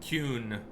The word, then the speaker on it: Qun: They pronounce it Qun, but when it doesn't roll off my tongue.